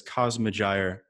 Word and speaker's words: Cosmogyre: But when I first came up with the name, I was intending for it to be read as Cosmogyre, but when I see the word, my brain reads it as Cosmogyre.